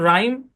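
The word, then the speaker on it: rhyme: শব্দের শুরুতে আর এইচ যদি একসাথে থাকে তাহলে এইচটা সাইলেন্ট। যেমন এই শব্দের উচ্চারণ রাইম, রিদম, রেটরিক, বুঝছেন?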